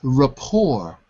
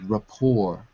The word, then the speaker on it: rapport: between the company and customers okay so it's Rapport the pronunciation rapport with the market or with the customer Rapport Rapport okay very good I I think that